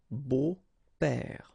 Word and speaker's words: beaux-pères: Des beaux-pères, okay? Remember the S, but then it's silent.